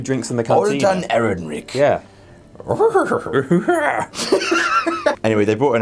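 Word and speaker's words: Ehrenreich: How do you pronounce his name? Aaron Rick.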